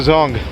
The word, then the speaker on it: Dzong: So right now we are one of the most beautiful places I've seen in Bhutan, and that's the Punakha Dzong. So Dzong, which is spelled as D-Z-O-N-G, in Bhutanese means a fort, and that really is one beautiful fort.